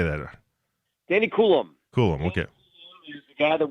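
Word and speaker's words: Coulombe: Kade or how do you say that Danny kulum kulum okay the guy that we saw I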